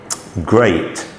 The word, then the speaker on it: great: E and A form the sound of A, as in break, great, steak.